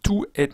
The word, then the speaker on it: toute: complètement content, je suis totalement content, eh bien, tout est un adverbe. Et la prononciation, c'est.